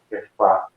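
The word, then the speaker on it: כיפא: Tefas é uma pronúncia aportuguesada que aproxima do nome de Pedro, em hebraico, né? Kefá. E, na verdade, já é um nome usado em hebraico, mas já é de origem aramaica.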